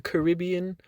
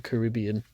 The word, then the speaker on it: Caribbean: Where today I will be reviewing Pirates of the Caribbean on Strangers.